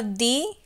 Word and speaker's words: the: द, sorry, first है दी plus vowel, उसको क्या बोलते हैं, दी। वॉवल के पहले जो THE वर्ड लगाते हैं उसको दी बोलते हैं।